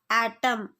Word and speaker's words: autumn: Answer is autumn. A silent letter N.